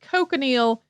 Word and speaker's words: cochineal: The cochineal is a scale insect that's native to Central and South America. Some people also pronounce it cochineal, and Europeans got their